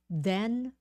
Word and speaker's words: then: please pronounce thing think then then thick thin same thing the th thing and think is um think think thing think then and then is voiced put your tongue out okay so everyone do